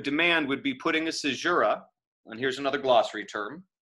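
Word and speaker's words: caesura: what that would demand would be putting a sajura and here's another glossary term c-a-e-s-u-r c-jera uh into the verse and this is just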